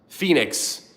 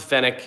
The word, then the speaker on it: Phoenix: It's pronounced Phoenix. Um, I pronounced it the fenic and they got mad at me.